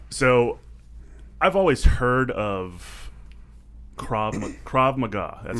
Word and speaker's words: Krav Maga: So I've always heard of Krav Maga. That's how you pronounce it, correct?